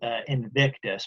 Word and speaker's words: invictus: it's spelled it's spelled invictus but you don't pronounce the v like that in latin it's the unconquerable sun